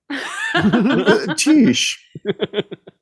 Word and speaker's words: Tisch: And then how was Tisch? Tisch. Yeah. That's the proper pronunciation.